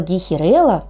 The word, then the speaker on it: гейхерелла: А вот слово гейхерелла, что интересно, произносится с ударением на третий слог.